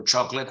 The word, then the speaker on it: chocolate: we all crave for chocolate I crave I love chocolate who doesn't like chocolate must not be a human probably so it's it has three syllables choco lat okay in Italiano foreign do